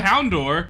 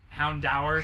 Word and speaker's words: Houndour: Every time they said Houndour, I'm like, just Houndour. Just Houndour. It's Like Hound.